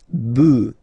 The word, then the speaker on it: bœufs: just add this s, but then pronunciation changes quite much, because you get des bœufs, all right?